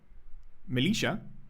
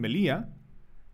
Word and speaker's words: Melilla: The reason that this is called militia, or how they say it in Spain, Melilla, is they think based on honey.